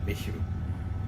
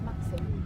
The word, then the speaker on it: Masham: Misham. Let Jane explain. It's pronounced Maxim. How did I pronounce it? Oh yeah. So we're stopping at Masham? Massam Old Station Cafe and Bistro for a cup of tea and a salad.